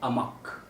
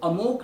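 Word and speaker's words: amok: है वो है रन अमक। रन अमक, हम इसको अमोक नहीं भी पढ़े तो ज़्यादा बेटर होगा, ये अमक है क्योंकि इसी तरीके से इसको प्रोनाउंस किया जाता है, रन अमक।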